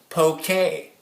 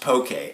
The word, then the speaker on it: poke: guys is it pronounced pokey or is it pronounced poke a it's pronounced pokey and that's what I'm gonna be making today